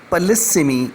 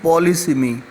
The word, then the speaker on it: polysemy: And today we are going to discuss about polysemy and a difference between polysemy and homonymy. Well, first of all, we need to understand that this is the word polysemy. It is not polysemy.